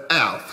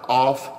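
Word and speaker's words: אף: The Hebrew word in the Strong's Concordance is 639, pronounced as Alf, spelled A-L-F. A-P-H, Alf, or off.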